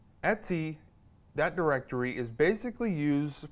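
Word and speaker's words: etc: this directory right here et Cie which is pronounced Etsy Etsy that directory is basically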